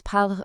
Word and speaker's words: parlent: You have to remember that the e n t ending for the ils and elles plural form is completely, totally silent. When you see ils parlent written out, it sounds exactly like ils parlent. The spelling changes, sure, but the sound? No way. It stays exactly the same. Keep that e n t perfectly silent.